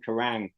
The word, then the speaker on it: Kerrang: cover those bands but karang the name karang is is what we call an honor mat Pier it's sounds like the word it the word sounds like the thing that it described so slush I always